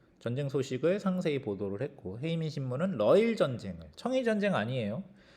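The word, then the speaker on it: 平民新聞: 또 한편으로는 어떤 신문이 있냐면 헤이민 신문이라는 게 있는데 헤이민 신문은 한자로 읽으면 평민 신문입니다. 이거를 이제 일본식 발음으로 하면 헤이민인데 이 신문은 특이하게도 전쟁을 반대하는 글을 많이 게재를 하게 돼.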